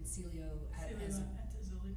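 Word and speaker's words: Cielo Azul: Celio at Azuli.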